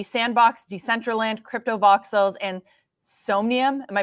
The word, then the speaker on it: Somnium: that would be Sandbox, Decentraland, Crypto Voxels, and Somnium. Am I pronouncing that right? Yeah, Somnium?